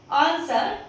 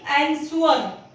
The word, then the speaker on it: answer: Just like in this ANSWER, इट इज आंसर ना कि एंसवर। हम इसे एंसवर नहीं पढ़ेंगे, हम इसे आंसर पढ़ेंगे।